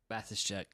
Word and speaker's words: Basischek: How do you say his last name? Basischek. I was right. It's exactly how it looks.